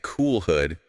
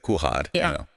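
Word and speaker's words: कुल्हड़: So AI kept saying cool hood instead of kulhad, the clay cup.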